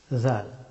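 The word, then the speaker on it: ذ: জাল। জা জা জা। জাল হরফটি উচ্চারিত হয় জিহ্বার অগ্রভাগ এবং সামনের দুই দাঁতের অগ্রভাগ। এখান থেকে পাতলা করে উচ্চারণ করতে হয়।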